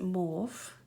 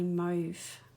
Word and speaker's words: mauve: pick up this is I call it mauve but the Americans pronounce it Mo but here where I live We tend to say move and this is called